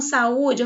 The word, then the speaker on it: saúde: a palavra saúde aqui quando eu chamo saúde eu falo assim tá u eu tenho esse o aqui ó bem forte a pronúncia dele é bem forte portanto eu tenho aqui um